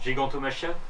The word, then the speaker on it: Gigantomachia: Gigantomachia. Ouais, merci, voilà, j'avais un doute sur la prononciation.